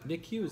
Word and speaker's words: NICU: me uh what is it how do you pronounce that nicu nicu nick use that neonatal intensive care unit what does that